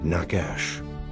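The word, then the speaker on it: נחש: The Hebrew word for serpent in this passage is the word nakash which is spelled nunched shin.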